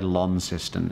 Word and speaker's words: Launceston: so it's it's pretty it's spelt lawn like laundry but you say Launceston ello in anyway that's